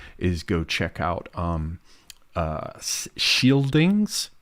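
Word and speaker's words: Scyldings: have to do is go check out um shieldings it's spelled s-c-y-l-d-i-n-g-s and uh you can just head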